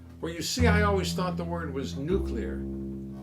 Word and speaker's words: nuclear: with no fear though how the pronunciation went from nuclear to nucular still remains on killer